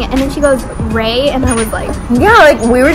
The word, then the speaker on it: Rhea: Like, it's spelled R-H-E-A, right? I just, my it's name not like R-I-A or R-I-Y-A, it's Ray. See, I'd rather you call me than Ray.